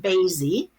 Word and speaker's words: Baisy: Anyw is the story of a young woman named Baisy, rhymes with Daisy, who is born in the year 2069 in a very utopian futuristic society.